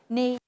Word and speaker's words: knee: Now, when we say these words, we say night, knee, knife. We don't pronounce the K.